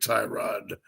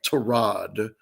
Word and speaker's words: Tyrod: They're going to make Tyrod or I'm sorry, Trod is the correct pronunciation.